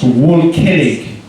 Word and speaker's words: Volkening: Let's hear it for Rich Volkening! This microphone smells like sarcasm. So again, my name is Rich Volkening, which is a German name, and when you actually say it German-like, it's pronounced Volkening.